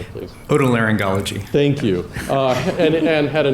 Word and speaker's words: otolaryngology: Otolaryngology.